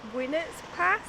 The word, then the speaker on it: Winnats Pass: places ever I think it's pronounced when it's past that's where we're heading